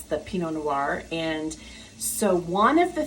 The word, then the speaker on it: noir: spelled noir but if you visualize nwor or ar then you just it rolls noir and so she finally